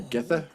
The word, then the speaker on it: Githa: and some of them say Verence, Then- some of them say Verence, but they all say Githa for Nanny, whereas I always thought it was Geetha.